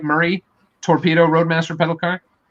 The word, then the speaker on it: Murray: I saying it right Murray torpedo Roadmaster pedal car Murr Murray right Murray yeah Murray right like the bicycle yeah bicycle we're gonna